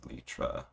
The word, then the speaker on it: elytra: I'm pretty sure if I remember my bio teacher correctly that is pronounced Elytra.